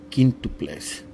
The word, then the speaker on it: quíntuples: When you see the Q and the U, you do not pronounce the U. Quique, quíntuples.